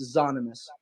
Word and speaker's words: Zahnymous: exotic like special and we took a word that I grew up with Za and then kind of added the anonymous word together so it's pronounced zonimus okay awesome does anyone